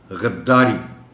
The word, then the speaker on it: غداری: رہا ہے۔ معاونت۔ اجرا، غداری، دال پر پیش ہے، دال پر شد ہے، وف چاہتا ہوں، غداری۔ مقدمہ، اس لفظ کو